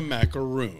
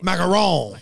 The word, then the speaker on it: macaron: times in a row they pronounce the cookie that is called a macaron as a macaroon. Macaron. They are two separate cookies.